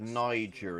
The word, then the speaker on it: Niger: Oh, it's called Niger, is it? Whoops, I've pronounced it wrong all these years.